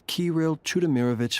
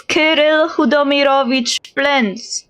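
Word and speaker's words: Kirill Chudomirovich: Oh my god, this is such an awful pronunciation. Holy moly. It's not English. We don't have ch sound on this. Unless No, I don't think it's the ch sound here. His name is Kel Hudomiroich. That's the proper pronunciation.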